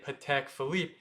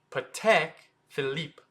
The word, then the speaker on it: Patek Philippe: is PCH phip however you're not supposed to say pek Philip it's actually pek so short p and then Tech PCH and then it's not Philip it's Philip but a little bit in French so it's Philip PCH